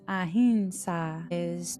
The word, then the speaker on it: ahimsa: And then the first yama is ahimsa. So we can hear these pronunciations very differently, and it's ahimsa.